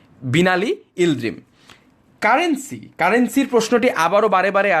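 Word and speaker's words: Binali Yıldırım: এটির আরব যে উচ্চারণটি তা আরও বেশি জটিল এবং আরও বেশি কঠিন। ইংরেজির কাছাকাছি উচ্চারণ হচ্ছে বিনালি ইলদ্রিম।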